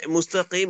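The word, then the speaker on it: مستقيم: আলিফ টেনে পড়ার কথা যদি আমরা মিমে যদি ওয়াকফ করি তখন আমরা এটা আবার মাদ্দে আরজি হয়ে যাবে এবং এটাকে আমাদেরকে তিন আলিফ টেনে পড়তে হবে তখন পড়তে হবে মুস্তাকিম জি তো পুরো আয়াতটা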